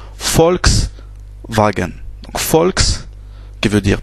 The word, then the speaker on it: Volkswagen: Le V en allemand se prononce F. Donc ici, ça se prononce V. C'est un V. Par exemple, la marque de voiture Volkswagen, ça se prononce Volkswagen.